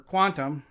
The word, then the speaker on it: Qtum: And Qtum, or Quantum, as it's pronounced, has a deal with Amazon.